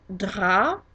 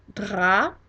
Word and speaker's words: drap: And of course the P is silent because we are always careful, and if a word ends in a consonant other than C, R, F, or L, we don't pronounce it. So dra ends in a P, therefore it's not pronounced.